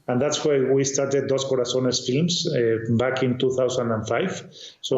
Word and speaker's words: Dos Corazones: I would say you're an experienced producer of big blockbuster Christian movies with your company Dos Corazones.